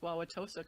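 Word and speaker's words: Wauwatosa: I was actually the most impressive whole most impressive thing about that introduction bio is that Justin, you pronounced Wawaossa correctly.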